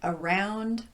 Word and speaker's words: around: And how about those words like around, across, among, along, about, and so forth? It's clearly the second syllable that's getting the emphasis here, but these words typically occur as part of a prepositional phrase.